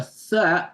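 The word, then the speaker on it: ث: A tha makes you blow the air out. Tha, tha, tha, tha, tha. But when you pronounce the sin, sin, you see the teeth are touching each other. Sin, sin, tha. The teeth, upper and lower teeth are not touching each other for the tha.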